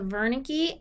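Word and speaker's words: Wernicke: so these are the Verna key and the Gnostic and Verna key is a German word so it's spelled with a W but it's pronounced like a V the Verna key is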